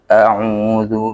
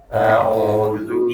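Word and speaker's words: أعوذ: Yang pertama adalah huruf ain ya, a'udzu. Kemudian zal ya, huruf zal itu tipis ya, bukan tebal. Kalau tebal itu dekatnya ke huruf dha ya.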